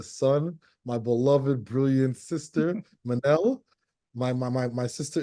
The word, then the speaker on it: Minnelle: yes my name is Manel think of Michelle but with two ends for those who see it and forget how to say it Manel I am a licensed